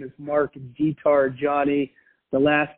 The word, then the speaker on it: diTargiani: find me on LinkedIn my name is mark guitar Johnny the last name is spelled di ta are GI I also